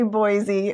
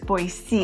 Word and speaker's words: Boise: Boise. I always say Boise, but maybe that's just the Chicago in me. No, that's how you're supposed to say boy and then Z. I think Boise. it's Boise.